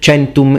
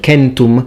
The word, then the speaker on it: centum: used to hearing things such as chentum instead of kentum centum being ecclesiastical legianis instead of legionis